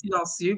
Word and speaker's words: Silencieux: It's pronounced Silencieux, but I am not.